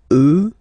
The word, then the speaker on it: eux: you get the sound remember, final X not pronounced, and then plural, elle, elle. Okay, so let's see them one more time. Moi, toi, lui, elle, nous, vous, eux, elle.